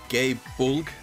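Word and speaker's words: Gae Bolg: up on Wikipedia and with the PA says like gay bull or something like that but like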